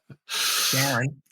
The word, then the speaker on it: Charon: That Pluto and Charon, as it's normally pronounced. Sharon. We had a discussion before the show, didn't we, about how you should pronounce this? And I said, don't call it Sharon. Sharon. Anyway, I've heard NASA people call it Sharon, so that's all right too.